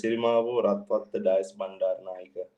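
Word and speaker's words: Sirimavo Ratwatte Dias Bandaranaike: It's pronounced as Sirimavo Ratwatta Dias Bandaranaike.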